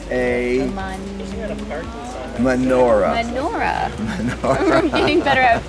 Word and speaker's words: menorah: This has 7, so it's a menorah. Menorah. I'm getting better at the pronunciation.